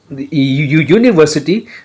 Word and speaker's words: university: Because the syllable u, university, when we go for the phonetics, it sounds like a y.